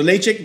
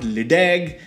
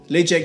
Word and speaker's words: Ledaig: opinion uh so so laycheck made at the top of mori distillery and if you didn't know it's pronounced late check not ladag as i used to call it the first few years